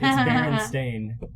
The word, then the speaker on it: Berenstain: I think it was spelled with the E, but Berenstain Bears is how you pronounce it.